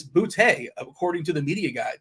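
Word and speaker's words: Boutte: and this year uh I hear everyone saying boty so uh I live in a city called Bouy and we pronounce it bouty I was just wondering if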